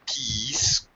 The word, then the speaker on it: keys: all right sure and be careful about pronouncing keys right remind you of Peace like peace man okay be careful all right Mak sure it's a long sound e not the other word with a short sound okay okay okay now